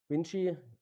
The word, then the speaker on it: Vinci: Vinci is pronounced in Italian because it's named after Leonardo da Vinci but the company is French based.